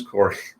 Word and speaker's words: Corey: I know a guy, it rhymes with Rory, but his name is Corey.